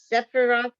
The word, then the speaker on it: Sephiroth: The 10 Sephiroth, is that how you pronounce that?